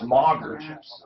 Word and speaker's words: Mager: It's Mager. M-A-G-E-R is Mager.